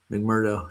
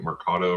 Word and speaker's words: McMurdo: Uh McMurdo Station. Yeah. Yeah. Uh yeah, I was mispronouncing it. I was calling it Marcato or something.